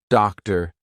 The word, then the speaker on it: doctor: But if a T comes after any other consonant, a lot of times it's going to be pronounced as the true T. For example, actor, doctor, empty. Okay, so we're going to be using the true T sound in those words.